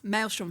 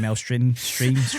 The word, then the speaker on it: Maelstrom: You know, it took me nearly like 20 years to pronounce that. Ma. Yeah. I kept saying Ma stream. I'd said everything but the actual name for it.